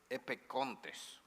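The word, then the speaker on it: ἐπέχοντες: Creo que se pronuncia epecontes, como si fuera K.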